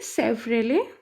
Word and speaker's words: Chevrolet: और ये किसका लोगो है बेटा, ये सेफ्रेले, CHEVROLET, यहाँ पे टी क्या होता है, साइलेंट होता है।